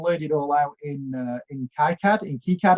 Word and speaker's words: KiCad: it all out in KiCad actually is how you meant to pronounce it, and I'll put it all on Hackster and GitHub.